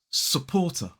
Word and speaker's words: supporter: Let's break this word down. It has 3 syllables. The stress falls on the second syllable. Now the second syllable is poor, but the first syllable is s. So there is a schwa in the first syllable. The second syllable is poor. Now notice that we don't pronounce the R in this syllable because it comes immediately before a consonant sound.